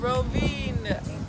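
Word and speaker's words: Rovinj: Rovin, Croatia. It's right? Spelled with a V and a J, but really you don't pronounce those syllables.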